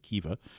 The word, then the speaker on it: Khiva: historic Silk Road town called Hiva. It's spelled Khiva, Kiva.